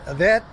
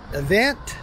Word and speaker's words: Evant: i'm in a vet i think that's how you say it event event event event it's e-v-a-n-t